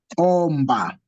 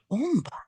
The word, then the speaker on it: omba: so us is so imba, enda, then the third word will be omba. Omba. It's O, not U.